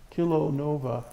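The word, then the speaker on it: kilonova: for you kill ANOVA kil Oh like kilometer and OVA Nova kill Oh Nova they observed it in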